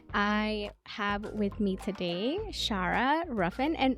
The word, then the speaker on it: Shara: hope you enjoy I have with me today Shara Ruffin and Shara am I pronouncing your name right can you let me